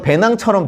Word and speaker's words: 베냉: 발음이 배낭 비슷해서 배낭으로 이렇게 기억하시는 분들도 있어요. 배낭. 실제로 이제 거기는 불어를 사용하는데 그 원어민들이 베냉을 발음할 때 저희처럼 약간 구수한 발음으로 베냉하지 않고 약간 배낭처럼 들리기도 해요.